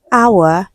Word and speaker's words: hour: Honor, hour, air. So these words, letter H is silent in them.